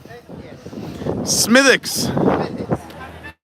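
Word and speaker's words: Smithwick's: was going to say also it's a silent W how dare you smithx and Killian used to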